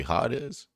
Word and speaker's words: Hades: It's not actually Hades. It's actually hot is learn new things every day.